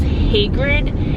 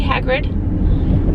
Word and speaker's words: Hagrid: perfect the only thing is the teachers been pronouncing Hagrid's name was hatred and so every time I said Hagrid there